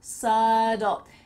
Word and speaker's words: subtle: but it sounds like a D sad dull subtle if you want some more information about how to pronounce the word subtle I made a video